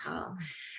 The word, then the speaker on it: Haugh: and jackie madden ha looks like or has different ways of pronouncing your last name but it's hell and if we can